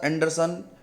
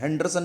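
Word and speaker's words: Henderson: This equation is known as द एंडरसन हेजलबेल्च equation. इसमें H silent होता है, एंडरसन equation बोलते हैं, हेंडरसन नहीं बोलते इसको.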